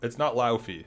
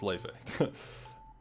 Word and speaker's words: Wolfeei: It's not Laufey. That's why I thought it was Laufey. It's Wolfeei. I think so. I could be wrong, but I'm fairly sure it is. I'm pronouncing it like Joshua.